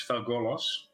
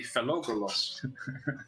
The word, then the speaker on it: Felgolos: He couldn't pronounce Felgolos, which is the bronze dragon Mhm. that you have a quest for. Yeah. And he would always say Phallogolos, which is an even more difficult name than Phalgolos.